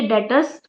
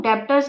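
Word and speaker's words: debtors: मेरे डेटर्स, डेटर्स बच्चों क्या है, ये डेटर्स को डेटर्स प्रोनाउंसिएशन करेंगे, इसको हम डेप्टर्स नहीं बोलेंगे। जो बी है वो साइलेंट है, ये याद रखना।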